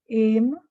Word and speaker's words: aim: And you notice A and E, the E is silent. Aim, aim.